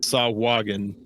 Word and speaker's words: Sahuagin: So that one I'm fairly certain is pronounced Sawagan. Sahuagin.